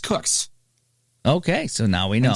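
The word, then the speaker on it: Koch: First of all, Dave, we learned how to pronounce it. Cook.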